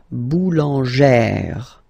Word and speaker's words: boulangère: Okay, so boulanger, boulanger, and then feminine form, boulangère, boulangère. Same thing, don't insist too much on the final E, boulangère.